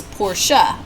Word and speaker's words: Porsche: am absolutely aware that the proper pronunciation of porsche is porsha but i've been saying porsche since i was five years old and i'm gonna keep on doing that because this whole dog